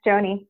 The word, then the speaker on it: JOANY: health care help for people out there called Joanie am I saying it right yes that's correct Joanie no T and it's a really a way